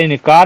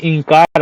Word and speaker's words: इंकार: क्या इंकार कर दिया अरे इनकार नहीं इंकार पहले तो आप जो शुद्ध बोलना सीखिए कि इंकार किया तब तो बात मानेगी वो जब गलत शब्द बोलोगे तो कैसे मानेगी या मानेगा इंकार होता है ना कि इनकार सुर पखा के बारे